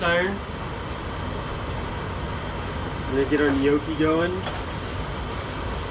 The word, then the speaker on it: gnocchi: I'm gonna get our gnocchi going pronounce gnuchi actually to proper way look at that flick